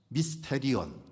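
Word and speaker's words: μυστήριον: 헬라어로 비밀이라고 하는 것은 미스테리온 그렇게 발음을 하는데, 여기에서 이제 파생된 단어가 영어의 미스테리라고 하는 단어, 전에도 말씀을 드렸습니다.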